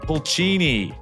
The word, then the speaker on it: Pulcini: Pulchini, welcome to the podcast.